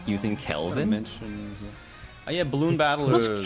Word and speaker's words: Kelvin: No, it's spelled with a K. It's spelled Kelvin. Oh. Yeah, it's not just a guy called Calvin. It's Kelvin. Right, wait, we gotta join round one.